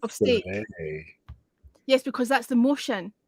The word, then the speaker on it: filet: Ugh, fillet. Sound like Carol Lion on the Wizard of Oz. Courage. Fillet. It's a French word. You should try to pronounce it the way the French say it. Filet.